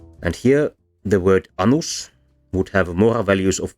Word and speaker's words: anus: Here, annus, short a, means a crone, that is an old woman, whereas anus, with a long a, means the butthole.